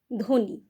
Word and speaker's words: ধ্বনি: উচ্চারণ করছি দেখো আমরা কিন্তু ব এর উচ্চারণ করছি না আমরা কিভাবে উচ্চারণ করছি আমরা বলছি ধ্বনি ধকার নয় হ্রস্ব ইকার ধ্বনি তারপরে ধরো স্বর সয়